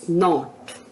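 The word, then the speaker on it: knot: एन ओटी होती है लेकिन यहां शब्द है के एन ओटी तो यहां पर हम के साइलेंट है तो यह ध्यान रखेंगे कि अगर रूल्स के अनुसार एन से पहले के आता है तो के साइलेंट होगा तो यहां पर के एनटी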